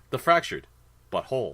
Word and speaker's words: The Fractured But Whole: words let's be like it's supposed to be pronounced like the fractured but whole yes taking place right